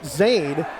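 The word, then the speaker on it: Xayne: down is zann mojadidi he spells that first name x a y n e pronounced Zade and he is on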